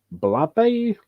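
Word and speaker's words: Blabey: on the book this is by um aaron blabbe that's how you pronounce it and the same director of um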